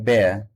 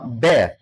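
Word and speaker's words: bear: बेर, तो इसको कभी भी आप बेयर मत बोलेगा।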